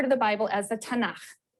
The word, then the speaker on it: Tanakh: also on that sheet tana which is really the letters um and they put little a's in there to make it easier to pronounce because it's hard to pronounce so tana okay um and this